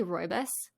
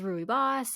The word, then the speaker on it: rooibos: know i hear like people pronounce it differently every time i say roibas but you know it's rui boss it's you know whatever whatever you want to call it it's a